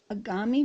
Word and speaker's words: agami: me tell you so these video messages or short stories are called agami videos which rhymes with origami the application is called